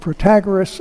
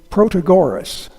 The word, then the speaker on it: Protagoras: Germans, French, English, although the English pronounce his name Protagoras, but that's because they put the emphasis on a different syllable.